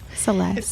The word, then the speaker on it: CeLes: I think it's pronounced CeLes. It is. CeLes.